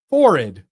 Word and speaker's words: forehead: Instead of forehead, what do you say? Horrid. Forrid. Yes. Like rhymes with horrid.